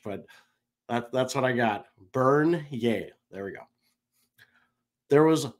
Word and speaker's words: Bernier: Number article and selected by me is Jonathan Bernier. Oh boy. Bernier. There we go. I had to phonetically spell this out.